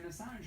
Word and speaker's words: Assange: Let's see what it does to Julian Assange or whatever. I can't. How do you pronounce his Yeah, name?